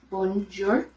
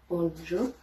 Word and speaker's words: bonjour: off we have rome and in french it's bonjour bonjour there's two different ways so hello hello is